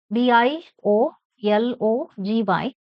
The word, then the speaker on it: biology: Third one is BIO Logy. Stress on OL. Biology. Fourth one.